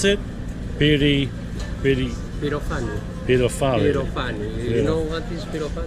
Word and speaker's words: Pyrofani: How do you pronounce it? Pyrofani. Pyrofani.